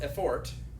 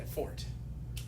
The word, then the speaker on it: effort: So as far as delivery, without any real effort. Yeah, you guys in Spanish say effort. What do I say in America? Not effort, but effort. Yeah, first syllable.